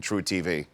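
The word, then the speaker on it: truTV: You know, the E is silent in True TV.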